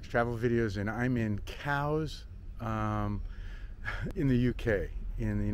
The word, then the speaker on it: Cowes: is eric clark travel videos and i'm in cows um in the uk in the united kingdom